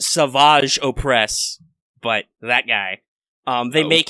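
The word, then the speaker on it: Savage Opress: Well, they make it's pronounced Savage Oppress, but that guy, they make him super swole by making him drink the green goop.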